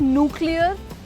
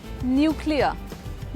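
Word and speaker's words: nuclear: इ ए आर बहुत सारे लोग इसको न्यूक्लियर बोलते हैं इट्स नॉट न्यूक्लियर इट्स न्यूक्लियर न्यूक्लियर र आखिर वाला जो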